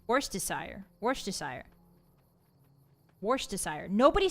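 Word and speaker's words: Worcestershire: No one says wash. There's no H. People don't say worst desire sauce.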